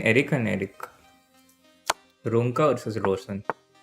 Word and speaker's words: Rosen: Ronka versus Rosen. A lot of Indians pronounce Rosen as Roshan.